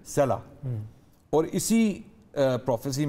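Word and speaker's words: سلع: एक सला के नाम से पहाड़ है, स्वाद लाम आइन, उसको अरबी में इस तरह लिखा जाता है और हिब्रू में उसकी प्रोनाउंसिएशन है सला।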